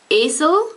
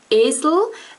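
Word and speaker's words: Esel: or e um is more like like it's pronounced like this lazer lazer then we have words like AEL which means donkey that has this one AEL and the second a it is spelled e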